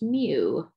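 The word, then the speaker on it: μ: this little greek letter mu so we say pronounced mu kind of like mu and meow mew for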